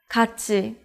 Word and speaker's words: 같이: When 디귿 or 티읕 are in the bottom position and meet the syllable 이, then 디귿 becomes 지읒, and 티읕 becomes 치읒. In this case, 티읕 meets the syllable 이. So 티읕 becomes 치읒. So you can read it as 같이, which means together, or together with someone else.